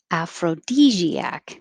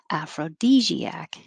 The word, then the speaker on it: aphrodisiac: we skipped this one aphrodisiac af aphrodisiac aphrodisiac i'm going to put d aphrodisiac aphrodisiac and the stressed vowel is e as in he and we did excellent